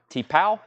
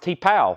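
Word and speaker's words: T'Pau: T-Paw, $24.99. And Someone to Watch Over Me. That's a Sinatra we don't get as often. $14.99 on Frank Sinatra. David Eberly wants the Little River Band. It's pronounced T-Pow.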